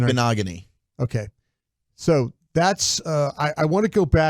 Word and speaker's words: Igbinoghene: Igbinoghene.